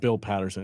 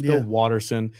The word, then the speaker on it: Watterson: I messed this up it's not Bill Patterson it's Bill Watterson thank you uh Blacklist